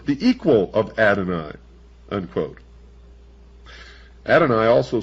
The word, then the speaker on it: Adonai: Adoni, also spelled well in the first place. Here it's spelled A D O N A Y and